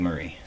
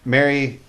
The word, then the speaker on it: Mary: It's Mary. It looks like Marie.